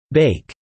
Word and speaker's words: Myeik: It is popular in the southern coastal regions around the town of Myeak. Bake is the Burmese pronunciation, and in Yangon, the largest city in the country.